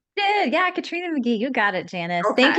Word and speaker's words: Katrina McGhee: to today's podcast Katrina M mcky did I pronounce that correctly did yeah Katrina McGee you got it Janice thank you so much